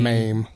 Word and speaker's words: meme: And it's like 68% of people say meme, and there's like 10 or 12 that say mame, and then some What about say, Mimi?